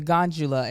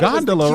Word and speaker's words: gondola: his head even with the gesture of the gondula as he called it oh hold up she said it wrong too though they were bothered they were saying yeah in the greek yeah that's a gondola right melissa came in when i was younger